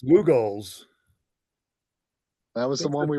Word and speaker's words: Lugol's: Hey Dave, could you pronounce that second one that's not Meltzer's again? Lugol, I think Lugol. it's Lugol's.